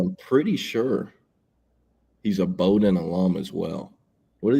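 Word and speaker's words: Bowdoin: not the same thing no so that's it's Bowden the D3 College in main is Bowden the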